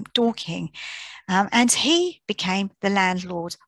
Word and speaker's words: Dorking: his candles there off darking in surrey and that's how it would have been pronounced darking rather than dorking and he became the